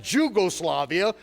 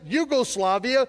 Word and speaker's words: Jugoslavia: the language was invented they pronounce it Yugoslavia because they know how to pronounce a j anytime you see the